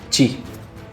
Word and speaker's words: qi: manera escrita en el chino simplificado, transcrita o transcripta, diría yo, como qi en pinyin, figura de esa manera, ¿no? Pero en la cultura china tradicional, el qi, pronunciado chi en mandarín estándar, es el principio activo